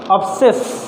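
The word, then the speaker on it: abscess: third world देखते हैं एब्सेस सुने तो होंगे काफी अवेयर होंगे यह भी वर्ड ऐसा है जिसमें क्या सी लेटर साइलेंट है दोस्तों आप लोग अच्छे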